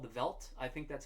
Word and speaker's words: Veldt: And he's working on a song of his called The Veld.